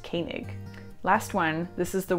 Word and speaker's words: Koenig: So it looks like Koenig, but the O and the E actually make an A sound, and so this is pronounced Koenig.